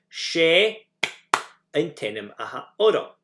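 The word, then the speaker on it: Is e an t-ainm a th' orm: She antenim aha orom. And you put the name where that clap came. She antenim aha orom.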